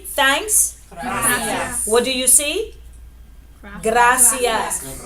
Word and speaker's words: gracias: what do you see gracias right remember the R is there get out get out GRA makes what sound good ah so